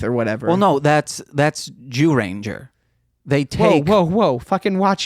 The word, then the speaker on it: Dairanger: Well, no, that's Dairanger. They take. Whoa! Fucking watch your mouth, dude. No, why does everyone do that? That's how it's pronounced. It's spelled ZYU. Yeah, it's more like Dairanger.